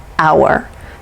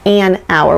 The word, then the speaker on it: hour: vowel sound for example hour we say an hour when we're talking about time and our because we don't actually pronounce the h and herb that we